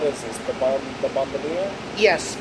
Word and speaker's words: Bombardier: The bomb the bombadia. Yes. Bombardier. Yes, that's correct. I'll pronounce it the American way.